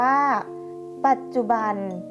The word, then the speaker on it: ปัจจุบัน: ค่ะ ปัจจุบัน อ่าน ว่า ปัจจุบัน คำ ว่า ปัด มี จอ จันทร์ เป็น ตัว สะกด จอ จาน อยู่ ใน มาตรา แม่ กด อ่าน ออก เสียง เด็ก สะ กด ค่ะ ศาสนา อ่าน ว่า